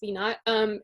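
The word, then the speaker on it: V₀: V naught, or V sub 0 is what it looks like, but it's pronounced V naught, is like the initial speed.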